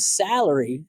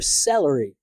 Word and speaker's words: salary: openness so what I hear instead is something more like an e as in bed so instead of salary I hear celery which is a vegetable